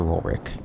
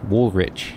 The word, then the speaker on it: Woolrich: biogland from one spencer roll rick oh spencer ruler it's real rich wool rich that's how they pronounce it here so that's how we'll pronounce it alright let's go confront